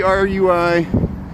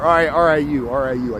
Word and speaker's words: RIU: There's the RUI. There's the RUI hotel there. Or RIU. I said it wrong.